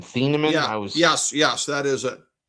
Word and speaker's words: Thieneman: How you pronounce his name? Thieneman?